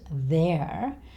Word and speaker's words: there: And there, instead of making the R sound at the end, there, just keep saying as in egg, make it longer.